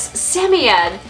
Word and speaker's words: Samoyed: One of the reasons why I pronounce it as Sammy Ed is because Sammy Ed just sounds super, super happy and super excited, just like this breed.